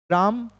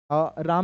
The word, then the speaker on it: ram: भतीजी पापा मम्मा विनो राम राम नहीं बोलते इसको रम बोलते हैं।